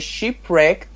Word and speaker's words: shipwrecked: By thrifty use of their supplies, the shipwrecked sailors were able to survive for weeks. Yes. You just pronounce it sheep, it is ship.